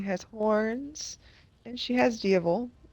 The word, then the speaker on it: Diaval: No, Maleficent has wings, she has horns, and she has Diavel, or as it's spelled, Diablo, but I swear she says Diavel in the movie.